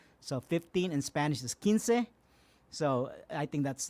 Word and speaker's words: Quince: I'm only asking for $15, because $15, because my last name is spelled Quince. Yeah. So Quince for it's Quince.